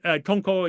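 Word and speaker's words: Tonkō: is in the famous Tong tonko if you pronounce it Japanese the dongwang those wonderful U caves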